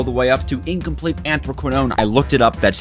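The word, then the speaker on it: anthraquinone: chapter 3 all the way up to incomplete anthroquinone I looked it up that's how you pronounce it is chemistry we need to take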